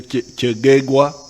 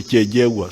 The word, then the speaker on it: Kyegegwa: Some of the groups say Kyegegwa, but Banyankwere with their double consonants, they say Kyejegwa.